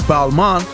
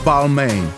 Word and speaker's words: Balmain: out to them and they said it's Balman not Balmain balma and so who knows